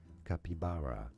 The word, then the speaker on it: capybara: God this guy's voice native to South America in the Americas it is said as capibara therefore in English it is to be pronounced as capibara no someone just says